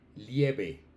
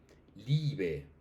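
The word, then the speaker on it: lieb: Porque he escuchado que estudiantes dicen lieve, lieve, no, lib. Live. Miren que es como si hubieran dos is ahí pegadas.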